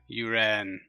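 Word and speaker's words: Уран: You ran. Second syllable stress. Got it. Uran.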